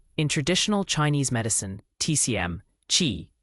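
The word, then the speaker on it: Qi: TCMQ chi pronouncedq chi is the fundamental life force or vital energy that animates all living things.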